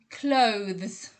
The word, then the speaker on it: clothes: new clothes so that i think the tricky thing about this one is that to the zed sound remember it's a zed sound although it's written with an s it actually ends with a z sound so take care with